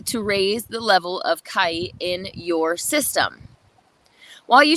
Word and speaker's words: chi: Your level of Kai," that's how they say chi, other people say chi or ki or whatever you would like to say.